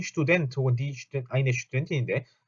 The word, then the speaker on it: Studentin: 자, 요거 발음할 때 독일어의 st나 sc하나 st가 붙어 있는 건 이런 걸로 시작하는 단어들은 전부 다 st 혹은 c가 아니고 슈 이렇게 시작합니다. 그래서 이것도 studentin이 아니고 studentin 하고 studentin.